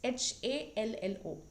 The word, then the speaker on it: Hallo: So, you can see it's Hallo. Hello. That is how it is pronounced.